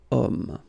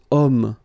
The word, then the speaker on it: homme: Because homme, well, it's masculine, yes. The reason is that it starts with the sound O, because if you remember carefully, H is not pronounced, so H doesn't exist phonetically.